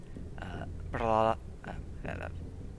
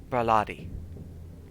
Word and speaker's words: Braladi: Brala, messed it up. Brala, I'm messing it up still. Frickin', how do I pronounce this again? There we go. That's pronouncing. Braladi. There we go. I said it right that time.